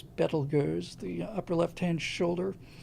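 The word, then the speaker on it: Betelgeuse: Um Orion is a spectacular constellation and will be until um everybody calls it Beetlejuice, but I believe the correct pronunciation from the Arabic is Betelers.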